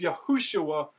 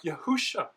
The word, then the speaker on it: Yahushua: And that seems to be to remind the reader that the full pronunciation is Yahushua and not something like Yahusha.